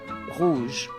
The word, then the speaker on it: rouge: OU is pronounced similarly to the double O in food, rouge.